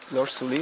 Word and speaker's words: Laure Soulié: Laure Soulié, it's good? Yeah. Pronunciation. Laure Soulié from Team Andorra.